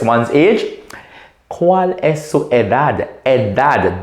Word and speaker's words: edad: The next question we could ask to request one's age, ¿Cuál es su edad? Edad. D-A-D can be pronounced as dad or a T-H.